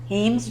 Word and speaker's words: Hemes: me all the time how do you say your name heems and I say dreams Hemes dreams because I believe I